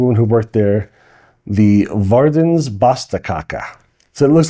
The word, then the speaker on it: Verdens Beste Kake: Um, it's called it's pronounced and I verified with the woman who worked there, the Verdens Basta Kaka.